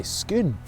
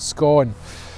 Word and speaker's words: Scone: collector who was born a nearby skoon remember never pronounce it scone or scone the totem pulls the